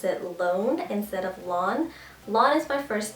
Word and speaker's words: Loan: way it's pronounced like lon and I always tell people to help them remember it's like mow your lawn so that's how you